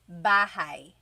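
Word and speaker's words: bahay: You might notice that the spelling is a y at the end. So it looks like bahi, but it's pronounced bahi. That a y combination is bahai.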